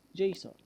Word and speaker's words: JSON: A popular serialization format is called JSON, pronounced JSON, which stands for JavaScript Object Notation.